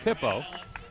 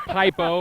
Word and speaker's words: Pippo: His name looks like Pippo, and he actually pronounced it. Yeah, P-I-P. it's actually P-I-P-P-O, but you know. Pippo. Yeah, That's yeah, him. yeah, but not like Pipo or Yeah. or Peepo or something like that.